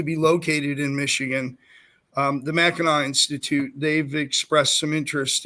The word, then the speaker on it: Mackinac: Mackinac. It's spelled Mackinac, but it's Mackinac.